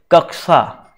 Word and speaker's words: कक्षा: है, तो भाई कक्षा शब्द का जो शुद्ध उच्चारण है यहाँ पर कक्षा, ठीक है, कक्षा बोलते हैं, कक्षा, तो ऑप्शन